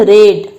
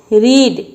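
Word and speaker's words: read: तो मैं पढ़ चुकूंगा, आई shall have रेड, right. Note speak रीड, always speak रेड, right. यहाँ आप रीड का प्रोनाउंसिएशन नहीं करेंगे, यहाँ आप प्रोनाउंसिएशन करेंगे हमेशा रेड का, क्योंकि मेरा यहाँ वर्ब 3 है, राइट।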